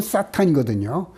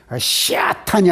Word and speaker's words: 사탄: 사탄, 히브리 말로는 사탄이거든요. 시아탄이 아니고 사탄이에요, 사탄.